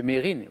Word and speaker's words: Mesrine: Puisque après des années à avoir dit tous Mesrine, on s'est rendu compte que lui-même le prononçait Mérine. Aujourd'hui, on se rend compte que c'est comme ça qu'on le prononce. Mais Mesrine, j'accepte bien sûr.